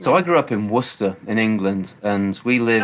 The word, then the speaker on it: Worcester: i grew up in worcester in england and we live how do you spell that w-r-w-o-r-c-e-s-t-e-r warcester worcester lots of silentness like gloucester same thing um yeah letters yeah